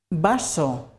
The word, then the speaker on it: vaso: the sound B, because in Spanish there is no difference between the pronunciation of the B and the V.